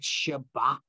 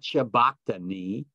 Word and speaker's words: Shabakten: It's in that word Shabakten. The B is soft. It's not Shabaktani. Not Shabakhtani, as most people pronounce it, but it's Shwakhtan.